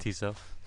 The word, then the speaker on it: Tissot: How do you pronounce the watch name? Okay, sorry, just confirming. Thank you. Tissot.